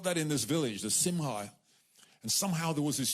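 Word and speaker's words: simcha: like what in Jewish culture is called the simha s-i-m-c-h-a and it's pronounced simha and it's essentially what we have here it's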